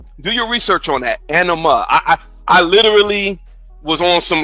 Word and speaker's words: anima: It's anima, not enema.